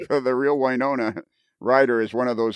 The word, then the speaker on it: Winona: goes i'm going with winona as in wine ona a reference to kevin's